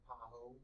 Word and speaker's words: pahoehoe: How would you pronounce that? Pahoho. Pahoho, right. And that's what I said for years. Pahoho. It sounds silly, but whatever. It's pahoho. Okay. It's not, you know, not my word.